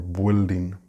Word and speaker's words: building: And finally, we have this other commonly mispronounced word, and that is building. We do not pronounce the U and I separately. They are together. The verb is build. It's not bueld or buelding or building.